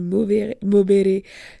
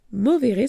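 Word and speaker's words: movere: comment on dit puisque j'ai dit mobé comme comme l'espagnol mais c'est mi m o V e r e mais c'est pas important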